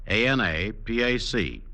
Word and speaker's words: Anapac: It's spelled A-N-A-P-A-C, Anapac, and you'll find it at every Rexall drugstore.